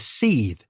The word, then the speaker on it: seethe: last word for today and that is seethe seeth is spelled s-e-e-t-h-e seeth